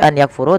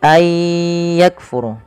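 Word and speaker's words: أَنْ يَكْفُرُوا: Maka ayya, cara membacanya bukan lagi an yakfuru tapi ayyakfuru.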